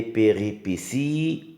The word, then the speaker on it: péripéties: Les péripéties. Regardez bien, là aussi il y a un T qui se prononce S.